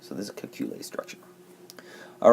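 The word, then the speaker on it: Kekulé: Okay, for the Kekule, that's how that's pronounced, we're going to draw out all the bonds as lines.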